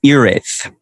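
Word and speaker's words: Hiraeth: Is it Hira-eth or Hira-eth? Oh, yeah. So that is up to debate. The pronunciation I have been told is Ireth. Ireth.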